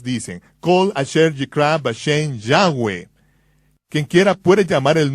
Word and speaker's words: Yahweh: Yo pronuncio su nombre Yahweh. Josefo dijo que había 4 vocales sobre la mitra del sumo sacerdote. Yod, Hei, Vav, Hei, que son pronunciadas como vocales en un solo respiro, Yahweh, fluido, Yahweh.